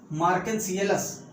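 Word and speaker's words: Marchantiales: मार्केंसियलस spelling तभी सही होगी जब आप लिखोगे मार्चेंटियल्स। मार्केंसियलस को मार्चेंटियलस।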